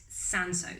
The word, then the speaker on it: Cinsault: and you pronounce it sanso so not quite like the spelling now the history of sanso some people think it's